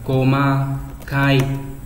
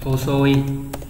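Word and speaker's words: 細い: Câu số 6, cái chữ này có hai cách đọc là Koma Kai đúng không? Và Hosoi đúng nhỉ?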